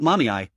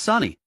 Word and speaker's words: Sani: It's not Mommy, it's Sani. How can you get both syllables wrong when there are only two?